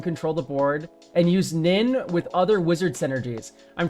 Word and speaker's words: Nin: Okay, so I I'm already sensing a little bit of tension that you want to use Nin to win. It rhymes.